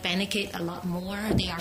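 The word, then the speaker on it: Benecaid: Life Has it um I mostly I like benid a lot more they are small business as well who benate how do you spell that b e n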